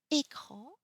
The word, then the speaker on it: écran: So, E with accent aigu, et E without accents. So it's very important when you see a word, is it a accent aigu, and then you have to pronounce a, but if you don't see an accent on it, you have to pronounce it e, e.